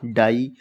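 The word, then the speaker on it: die: तीसरा रूल है जब किसी वर्ड के लास्ट में आई इ हो। जब कोई भी वर्ड लिखा हो लास्ट में आई ई हो तो हम इसको बड़ी बड़ा आ बड़ी ई की मात्रा से पढ़ेंगे।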